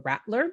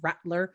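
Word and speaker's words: Radler: the fall called the rattler it's spelled r-a-d-l-e-r it is i know it of german descent so rattler more of a t sound which is like a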